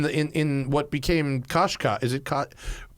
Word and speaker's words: Qashqai: in in what became koshka is it caught Americans can't pronounce it is it koshkai it is koshkai right yeah don't worry